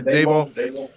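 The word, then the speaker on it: Daboll: Yeah, Debo.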